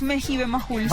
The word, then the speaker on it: Mejibe Majul: ¿Cómo es realmente? ¿Mejibe? Es Mejibe Majul, sí.